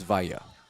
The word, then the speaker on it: Villa: I asked his father how to pronounce that. It is Villa.